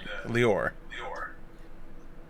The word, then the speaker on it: Leor: about it, but it's you're putting the accent on the wrong syllable. It's Oh, Leor, no. but that's because that's how it's pronounced in FMA. So sorry about it. Leor? The accent's on the or.